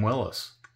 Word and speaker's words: Willys: to call it a Willies but uh I guess the yeah Mr Mr Willis pronounced his name Willis instead of willies but they also said